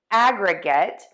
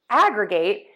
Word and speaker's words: aggregate: Heteronyms are words that are spelled the same but they are pronounced differently and have different meanings. Our words today are aggregate, which is a whole formed by combining elements,